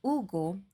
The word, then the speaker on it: Hugo: AO I'm talking about Ugo remember that in Spanish we do not pronounce the letter H so is the name